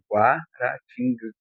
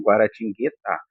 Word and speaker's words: Guaratinguetá: Nesse caso, a guara tingu guarating não, guaratingá.